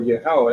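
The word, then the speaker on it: Yahweh: reads and the Lord or yahwah that's how he say his name in the ancient Hebrew commandeth me at that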